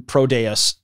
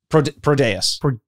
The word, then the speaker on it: Prodeus: Prodeus. Prodeus. Now you fucked me up. Prodeus. Yeah, I think that's what we're going. I'm putting the emphasis on pro.